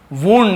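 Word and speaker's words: wound: वुंड, इसे वाउंड नहीं बोलते, वुंड यानी होता है घाव या फिर जख्म, और विंड का दूसरा और तीसरा फॉर्म भी वुंड होता है।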